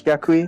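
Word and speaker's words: Yaqui: pronounce the tribe from it's y-a-q-u-i i think it's jaquie i'll get this up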